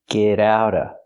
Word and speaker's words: get out of: Not get out of, but get out of. We hear the T in get and the T in out pronounced as fast Ds.